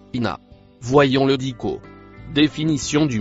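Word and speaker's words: إنّ: Le premier mot en rouge se prononce ina.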